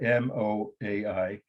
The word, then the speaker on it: Moai: Maori, and that's not Maori without the R, M-O-A-I, ancestor, singular, figures. M-O-A-I, Moai, sorry, that's how you pronounce it.